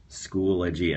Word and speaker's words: Schoology: right schoology and so they put the pronunciation right on their booth this year um and so that's the way i had been saying i i usually say things wrong so i was surprised i was right but schoology is the definitive pronunciation straight from the company and i mean some